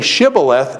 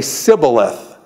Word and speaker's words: shibboleth: So what I'm saying is when they cross here, he says, say shibboleth, and they say sibboleth.